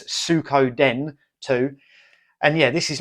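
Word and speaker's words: Suikoden: two I always pronounce that wrong I always pronounce it sudoken there's in Sudoko the game but it's Sukho Den too and yeah this is like a Japanese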